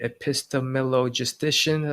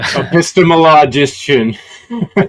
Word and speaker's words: epistemologician: It's uh called the epistemillogistician, I think. And uh epistemologician. None of us ever said it right in the whole interview.